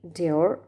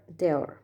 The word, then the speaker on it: Dior: Actually, it is a French brand, so the D can be pronounced as de. So it can be Dior or Dior.